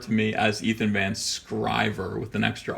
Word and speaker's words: Sciver: my whole entire life nobody can imagine you know the letters s CI and and there being a hard C sound in there because